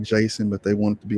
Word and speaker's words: Jaseon: talking about your first name and so let's pronounce it correctly because it's not jason it's not a typo it's jason which is also a beautiful name too um